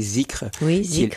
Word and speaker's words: dhikr: Le dhikr, comme vous dites, que j'ai lu parfois prononcer zikr, qui est la répétition du nom de Dieu, en fait.